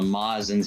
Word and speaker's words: Majin: He had told us that it was actually pronounced Mazin because it was a Japanese translation error.